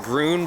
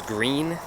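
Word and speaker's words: Gruene: I went and talked to a fly shop, a little shop in, I want to pronounce it Groon, but I think it's Green is the name of the town.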